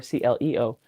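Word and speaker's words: Clio: c l io or c l eo while in Michigan we have cl l io and we pronounce it cleo Iron now that is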